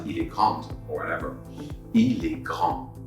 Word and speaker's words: grande: And because I have a vowel right after the D, this time I pronounce the D. So it sounds like elle est grande.